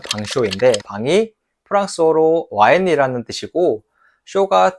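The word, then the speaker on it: vin chaud: 그리고 꼭 먹어 봐야 되는 뱅쇼가 있어요. 프랑스어로 정확하게 발음하면 방쇼인데 방이 프랑스어로 와인이라는 뜻이고 쇼가 뜨거운이라고 뜻입니다.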